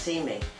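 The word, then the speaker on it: CMEE: I'm the executive director of the Children's Museum of the East End, and that's pronounced See Me.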